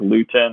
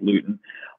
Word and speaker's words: Luton: No, Gardner Minshew's out for another week, so you're going to get Jake Luton or Lutton. I don't know how to pronounce his name. I think it's Luton.